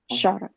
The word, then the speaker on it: Kshara: Kshara. Kshara, yeah. You can, it's, the K is silent. Kshara.